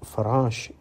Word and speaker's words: farash: Arabic word for M the pronunciation here is very important if you say farash it means a moth but if you say fash with a z under it then that means a kite you know the flying